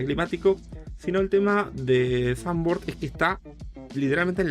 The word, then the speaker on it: Zandvoort: De hecho, Zandvoort viene de que en realidad se pronuncia Zandvoort, pero no soy alemán, perdón, no soy holandés, así que no te podría decir exactamente.